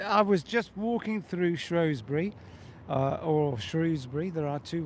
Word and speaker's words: Shrewsbury: What a coincidence that you were in Shrewsbury or Shrewsbury at the same time as I was. Let's just call it Shrewsbury. Yes. And have done. It is Shrewsbury, and that is what I'm calling it. I'm sure lots of locals around here would challenge me to a fist fight over the name.